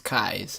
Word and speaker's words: Keys: kais is his name it's spelled keys but it's kais and he's a really